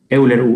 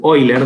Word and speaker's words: Euler: usando la fórmula de euler euler hoy leer depende cómo lo quieran pronunciar y la exponencial con